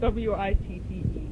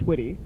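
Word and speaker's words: Witte: it's spelled W-I-T-T-E. But it's not wit, it's witty.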